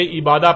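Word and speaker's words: عبادة: لکھا جاتا ہے عبادہ، اور جب عربی لہجے میں اس لفظ کو پڑھا جاتا ہے تو تیز ساکت ہو کر ہے کی آواز میں بدل جاتی ہے، یعنی اسے عبادہ پڑھا یا بولا جائے گا۔ عربی کا لفظ عبادہ جب اردو میں شامل ہوا تو اسے عربی کی بجائے اردو لہجے میں تے کے ساتھ بولا گیا اور بولا جاتا ہے، یعنی عبادت۔ اب آتے ہیں اس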